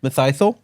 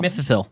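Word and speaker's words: Mitheithel: you say it how do you say it mythol mythal it's m i t h e i t h e l it's like mythol missil missil missil Miss missil I need to go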